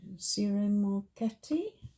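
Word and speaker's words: Ciro Marchetti: Um, I'm going to be starting with Aries and I'm using the Gilded Tarot by Sir Moretti. That's how you pronounce it.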